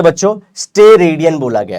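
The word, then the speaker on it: steradian: ध्यान से बच्चों, स्टेरेडियन बोला गया है इसको। इसको हम लोग क्या बोल रहे हैं, STE। इसके स्पेलिंग में गलती मत करना।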